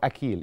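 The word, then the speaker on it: أخيل: جدا في الاساطير اليونانيه اسمه اخيل او اكيل يعني هي حسب ما بتكتب يعني تمام او قصدي حسب ما بتنطق بالعربيه انما هو اكيل يعني هي تنطق بحرف الك مامته ودي كانت الهه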